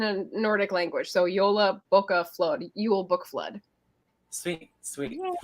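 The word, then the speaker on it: bókaflóð: And tell me this: how do I pronounce Jobla? Help me. Yola. So Yola. It's like YOLO, but it's Yola. Yola Bokaflod.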